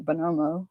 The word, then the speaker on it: Bonomo: asking something about Nick Bonomo, and he was like, how do you spell that? And I was like, Bo-no-mo. And he's like, basically, I'm a moron, exactly like it sounds.